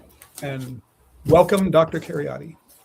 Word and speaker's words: Kheriaty: Aaron Keryotti and welcome Dr. Keryotti.